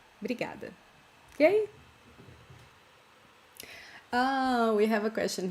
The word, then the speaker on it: obrigada: Very often we don't pronounce this O, as I was saying